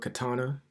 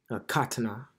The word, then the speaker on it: katana: just learned this recently the word Katana is actually pronounced Katana not Katana all right so Katana